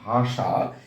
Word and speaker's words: ভাষা: যেমন আমরা যদি লিখি ভাষা, এই ভাষা বানানে ভয়াকারে ভা, তালবস্যের স উচ্চারণটার বানান হবে এরকম ভাষা।